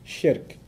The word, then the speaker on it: shirk: Sounds like Shrek, so that's easy to remember, right?